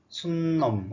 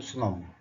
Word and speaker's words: 수놈: 수놈, 순놈, 어느 게 맞아요? 우리들은 순놈이라고 합니까? 보통 사람들이 순놈 많이 그러지요. 그런데 표준어 발음은 수놈이라고 합니다. 수놈. 그래서 암수자가 들어간 거, 암놈, 수놈.